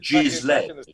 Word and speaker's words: Ghislaine: No, Ghislaine, which is the correct pronunciation of her name.